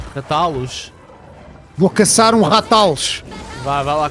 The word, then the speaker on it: Rathalos: What it was a Rathalos.